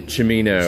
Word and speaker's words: Cimino: vowel uh when a vowel follows c the c becomes a ch like chow or we'd be saying well i think we'll probably say chamino at home oh and we'll